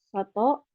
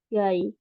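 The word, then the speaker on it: 外: Untuk cara bacanya ada dua, yaitu yang tadi ya, Soto dan Gai.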